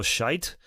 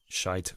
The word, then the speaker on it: Schütz: play the melodies that Schütz wrote down. But I'm trying to say his name without making it sound like Schütz. The English word.